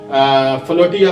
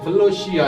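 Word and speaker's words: philautia: और इसके अलावा हमें लफ्ज मिलता है फलोशिया, फ्लोटिया भी कहा जाता है, लेकिन इंग्लिश में इसकी प्रोनाउंसिएशन फलोशिया है, जिसका मतलब है सेल्फ लव।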